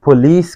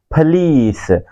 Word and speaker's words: police: तो एक बहुत बड़ा मिसकंसेप्शन इस वर्ड के बारे में कि हम इसको प्रोनाउंस कर रहे हैं पुलिस के तौर पे, लेकिन ये वर्ड की प्रोनाउंसिएशन दुरुस्त नहीं है। ब्रिटिश इसको बोलते हैं फलीस।